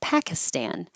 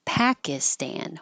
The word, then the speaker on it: Pakistan: YouTube thank you for Pakistan the i in the middle is not stressed so it will change to an i as in it or an uh as in up and be